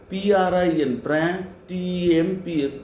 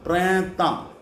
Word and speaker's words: printemps: Then spring, spring, P-R-I-N, T-E-M-P-S, ta, printemps.